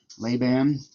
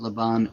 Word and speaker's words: Laban: by the way, the the pronunciation of what did he say? Leban like nails on the chalkboard. Um, but the but the the idea that Laban he's completely forgetting the